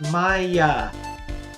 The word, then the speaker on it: Maya: testimony Nick may I my name is pronounced Maya recall the witness a